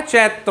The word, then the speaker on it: चैत्र: चैत्र होता है। चैत बोलते हैं बिहार उत्तर प्रदेश में, संपूर्ण भारत के लिए इसका उच्चारण चैत्र होगा।